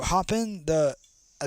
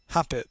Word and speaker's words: Hoppip: Oh, Hoppin, I think his name is Hoppini. I don't know how to really pronounce it. Let me show you. Hoppip. That's how you say it.